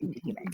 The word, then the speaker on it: Utahime: Well, it's not after me, but like it's Utahime.